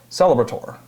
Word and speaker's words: Celebrator: From the top of my head, I can't remember who I was talking to, but the ATOR at the end is ator, so Celebrator.